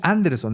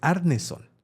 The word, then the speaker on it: Arneson: No es Anderson, es Arneson. Arneson, ¿okay? no, pues es que era para Gary que te costara Gygax trabajo. Y Dave Arneson.